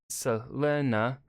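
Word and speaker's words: Selene: a sunset or stormcloud technically it should be pronounced like Selena but I only learned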